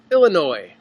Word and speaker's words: Illinois: Schaumburg Illinois Snell Illinois you say Illinois or Illinois's pronouncing the s yes or no s no s Illinois I think I'm just being lazy when I say the S I just can't stop